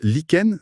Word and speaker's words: lichen: On prononce liken, c'est ça ?